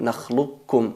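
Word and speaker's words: نَخْلُقْكُمْ: No hay que pronunciar el qaf en el caso de nakhluqukum, hay que decir nakhluqukum, nakhluqukum, qur rabbi, no qul rabbi.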